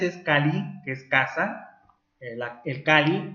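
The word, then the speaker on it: calli: el ser, o sea, Kali, casa. La doble L se pronuncia casi siempre como L, en náhuatl, que es la lengua de los aztecas. Kali es casa.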